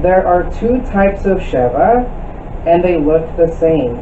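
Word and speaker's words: שְׁוָא: All right, The name Sheva is pronounced with a very short A sound.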